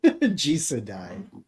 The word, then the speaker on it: Jisedai: Neff, how do we pronounce it? Jisedai.